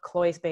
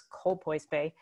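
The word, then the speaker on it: Colpoys Bay: got the name wrong it's not cloyes bay it's cold boys bay uh but this was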